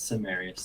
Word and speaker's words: Semerius: I'm on TikTok and Instagram at Darth Semerius, Cemerias, because I know a lot of people don't know how to say it, but it's Semerius.